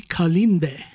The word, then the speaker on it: Kalinde: i'm speaking with anthony kalinde yes there you go that's a bantu that's a bantu pronunciation there yeah how are you